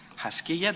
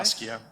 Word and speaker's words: Haskiya: Um, David Haskiya, do I pronounce it right? Haskiya.